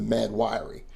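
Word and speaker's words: Mahd Wy'ry: They thought that she was suffering from an eternal mental illness called the Mad Weary or Wiry. It's spelled crazy, but that's what it's called, the Mad. I will call it the Mad Wiry.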